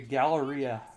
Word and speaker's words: Galleria: The Galleria, that's how you say it, okay.